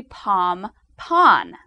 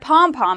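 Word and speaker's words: pom-pon: television and the media the word though is actually pom pon with an N this is the word used by professional cheerleaders coaches cheerleading equipment manufacturers pom pon but the word pom pom has just been used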